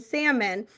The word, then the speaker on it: salmon: then tell him to stop pronouncing the L in salmon?"